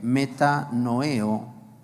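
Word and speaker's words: μετανοέω: Por ejemplo, en el original griego significa arrepiéntete, metanoeo, acento en la E.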